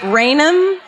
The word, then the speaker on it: Raynham: I wrote it as Raynham. Is it Raynham? Okay, Raynham. Listen to how it's spelled. Ready for this?